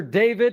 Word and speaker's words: d4vd: Singer and producer David and it's spelled D4VD.